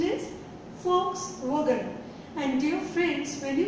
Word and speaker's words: Volkswagen: No, it is not Volkswagen. It is Volkswagen. Volkswagen. Volkswagen. See, Volkswagen is a German car. And folk stands for people. It is people's car. So the correct pronunciation is Volkswagen.